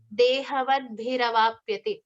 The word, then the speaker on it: dehavadbhiravapyate: So when the two words dehavadbhi and avapyate, when these two words combine, it becomes dehavadbhiravapyate. Again, the R syllable comes into play.